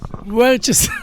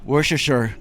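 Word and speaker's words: Worcestershire: Worester sauce. Let's get Harry to pronounce it. Woreser.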